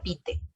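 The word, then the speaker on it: bitte: favor si te dice tal y cual se pronuncia peter y si nosotros respondemos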